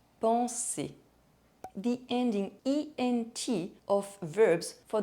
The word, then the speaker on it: penser: The final R of the infinitive of verbs ending in ER is not pronounced. Manger, aller, penser.